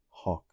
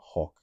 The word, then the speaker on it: hawk: anamanopic to the sound of a devouring m pronounced hawk with air drawn sharply inward to the mouth. So hawk, not gal, it's hawk.